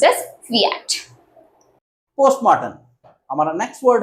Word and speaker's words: fiat: It is pronounced as fiat, which means let it be done.